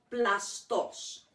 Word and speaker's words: plastos: region of uh macedonia it would be called plastos and i'll spell that for you it's p l a s